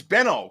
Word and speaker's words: Benno: No, it's not. It's Benno. Can't you not pronounce the fucking second N and O?